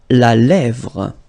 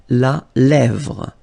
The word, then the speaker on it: la lèvre: La lèvre. Remember, accent grave here. Really open. La lèvre.